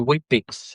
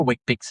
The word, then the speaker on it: Weet-Bix: You know Weet-Bix is spelled w e t? Yes. So, it's not actually it's not it sounds like wheat, it sounds healthy.